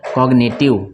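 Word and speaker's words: cognitive: इसको पढ़ेंगे कॉग्निटिव, इसको पढ़ेंगे कॉग्निटिव, ठीक है ना, इसमें जी साइलेंट नहीं है।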